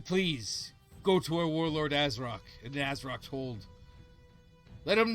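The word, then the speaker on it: Azrok: Azrock. Nice. Azar? So, nailing it. No, because the O can't reach past the Z, so Azrock.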